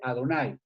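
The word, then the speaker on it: Adonai: lectura marginal donde dice pronúnciese adonay es decir en vez de el nombre de dios debe decirse ado nay las células generaciones con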